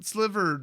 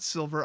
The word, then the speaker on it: sliver: next up cloud shredders sil sliver not silver i say it every time well this card is